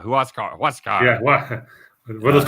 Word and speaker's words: Huascar: it's uh you know no it's it's huascar oh that's right it's a who asks yeah who else car what's god yeah what